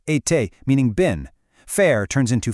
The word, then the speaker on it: été: Être becomes été, pronounced été, meaning been.